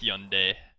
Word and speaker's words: Hyundai: yes, And yes, no one should pronounce it Hun anymore. It should be Hyun. It's Hyun, travesty. Hyundai, yes.